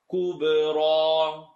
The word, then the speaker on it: كُبْرَى: الَّذِي يَصْلَى النَّارَ الرَّل Watch the transition, light to heavy. Kub. Bring it out for kub. Kubra. Even a little bit too much I'm hearing. Kubra. A lot of times if you smile, if you relax this section of your head, then you yourself will start saying kubra. When you smile, then the light letters come out a lot easier.